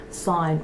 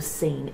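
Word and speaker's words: Sine: Now, Little Apple Red protects these souls on their journey, and they're guided to the place in between by Sign or Scene, S-I-N-E. So she's another character in there.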